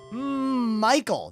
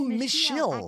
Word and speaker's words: Michiel: Michael. No, Michiel.